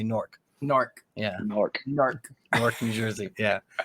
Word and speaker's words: Newark: real pronounce the a we don't say Newark we say Newark Newark yeah New Jersey